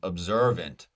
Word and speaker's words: observant: only have one option observant observant the ER and observant is our vowel sound that is stressed correct going down our